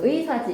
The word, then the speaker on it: 의사: 앞에 오면 뭐라고 해봐야 돼요? 무조건 의. 의로 발음해야지. 이중모음에 의로 발음해야지. 어, 의사지. 이사라고 발음하는 사람 없죠? 네.